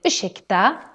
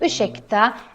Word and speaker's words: ursäkta: And just like we mentioned with the word varsågod, ursäkta also has this sh sound because we have an RS put together. So important that you pronounce this as ursäkta and not ursäkta.